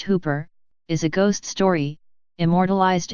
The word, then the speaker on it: Whooper: the dung Garvin Hooper pronounced Hooper is a ghost story immortalized in a song